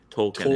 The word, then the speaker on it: Tolkien: I mean, this is not by Tolkien himself. But... Tolkien? Isn't that the guy's name? The author? Tolkien, yeah. I've just never heard the L pronounced that hard.